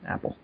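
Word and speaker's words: Appule: Apple. Right. The name is spelled more like a pool, but it's pronounced Apple.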